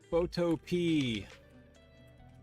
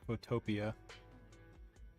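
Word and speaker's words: Photopea: Photo P. That's how you pronounce that, right? Definitely not Photopia.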